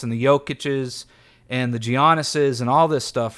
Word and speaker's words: Giannis: Giannis, sorry, I know you're not supposed to pronounce the G. One time I had a guy get mad at me. The G is silent, whatever.